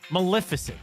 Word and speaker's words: Maleficent: can't say it Maleficent Maleficent there you go Maleficent Maleficent yes this day 1959 was Sleeping Beauty